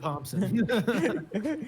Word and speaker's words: Thompson: Travis Sivart and Michael Thompson. Thompson. Hey, you guys! It's that semi-silent P at the last. Apparently, it's that silent H that's the problem. The silent H.